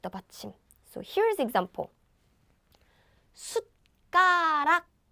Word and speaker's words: 숟가락: 숟가락. So we have this 숫. So it's like 숫. It's not 숫. So don't breathe out your air like 숫. But just stop after pronouncing it. 숟가락, 숟가락.